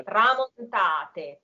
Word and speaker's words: tramontate: Single T, yeah. Tramontate. So you keep the A going. You don't let that stop. Yes, the stress is on the A, tramontate. So it's easier to pronounce the last T and if E.